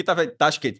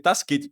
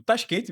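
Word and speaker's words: Tashkent: Porque tá tente, mas assim, a pronuncia seria Tasquente. Tipo, Tasquente mesmo assim.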